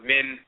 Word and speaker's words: Men: But she has the title Men Menit when she's in connection with Amenet. Just like the deity Men, they often spell it M-I-N. It's really M-E-N. He's called Men.